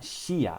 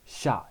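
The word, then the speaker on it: しゃ: and this turns into so it's not shia it's sha they become one sound okay same with this so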